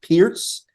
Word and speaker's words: Pirc: too as well like the perk pirc is pronounced Pierce yeah like I'm like